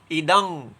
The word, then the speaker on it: इदं: ये न सर्वम इदम ततम, वो म जो है इदम का वो अनुस्वर बन गया है, वो बिंदी बन गया है, इसलिए उच्चारण के समय हम उसको इदम नहीं पढ़ेंगे, इदंग।